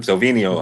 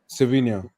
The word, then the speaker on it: Savinho: Silvino. How'd you say his name? The winger? Savinho.